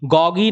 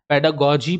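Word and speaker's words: pedagogy: बाल मनोविज्ञान ठीक है तो पेडागोजी गगी नहीं पढ़ते हैं इसको याद रखिएगा पेडागोजी पढ़ते हैं पेडागोजी से एडजेक्टिव बना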